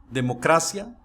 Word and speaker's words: democracia: Viu que a sílaba tônica é diferente de como se pronunciaria essa palavra em português?